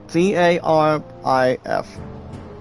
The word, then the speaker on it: Garif: Griff, guys, is pronounced Garif.